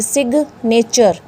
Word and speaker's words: signature: बोलता है अगर जी किसी वर्ड के मिडल में आ जाता है तो हम वहाँ पे उसको प्रोनाउंस करेंगे।